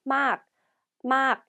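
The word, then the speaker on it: มาก: 네, 다음 단어는 많이 또는 매우라는 뜻의 막 이렇게 발음하고요.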